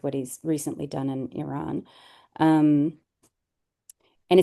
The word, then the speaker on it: Iran: he's recently done in Iran. Um, and it's Iran, not Iran. Yeah, which he continues to say. It's Iran. Like, pronounce it properly.